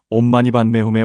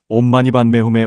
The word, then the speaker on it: 옴마니반메훔: 옴은 우주의 근원적 소리이며 부처님의 몸을 상징합니다. 입을 둥글게 하여 깊은 곳에서부터 울려나오도록 발음합니다. 마니는 보배를 뜻하며 부처님의 말씀을 상징합니다. 마와 니를 분명하게 구분하여 발음합니다. 반매는 연꽃을 의미하며 부처님의 마음을 상징합니다. 반과 매를 부드럽게 연결하여 발음합니다. 훔은 마음의 집중을 의미하며 이 모든 것의 성취를 상징합니다. 힘있게 마무리하듯 발음합니다.